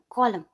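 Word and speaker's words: column: कॉलम, इधर भी N silent हो जाएगा और हो जाएगा COLUM, कॉलम।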